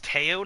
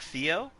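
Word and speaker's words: Théo: yeah well oh it's it's taiyo not theo oh my god it's tail it's french bro i didn't know he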